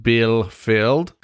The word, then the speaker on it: Bielefeld: story about a city in Germany called Bielefeld, pronounced Bielefeld.